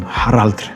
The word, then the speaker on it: Harald: If I were a Viking, I would probably call him Harald, something like that.